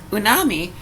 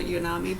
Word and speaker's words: umami: It's not unami, but it's spelled different. This is U-M-A-M-I.